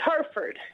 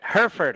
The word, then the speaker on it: Hereford: Did I pronounce that correctly? It's Hereford. I knew it, darn it. Hereford.